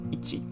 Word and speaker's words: 一: know how to pronounce them correctly if my pronunciation is a little off. So number 1 is ichi.